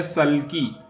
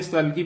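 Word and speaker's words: sulky: उसके बाद है अगली मीनिंग हमारी है सल्की। देखो, ये सल्की पढ़ा जाएगा, इसको सुल्की नहीं पढ़ेगा कोई यहाँ।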